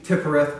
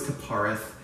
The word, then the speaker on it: Tiphareth: For instance, I say Tiphereth, I know it's Tiphareth. I say Malkuth, I know it's Malkut.